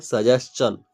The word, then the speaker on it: suggestion: SUGGESTION को देखिएगा यहाँ पे STION को चन पढ़ते हैं। जैसे देखिए यहाँ पे आपको अगर विश्वास नहीं होता, देखिए यहाँ पे क्वेश्चन, यदि हम यहाँ पे जिसका प्रोनाउंसिएशन करते हैं तो क्या करते हैं? चन, STION को क्वेश्चन। वैसा ही सजेशन में STION है तो STION के क्या पढ़ेंगे? चन, सजेशन।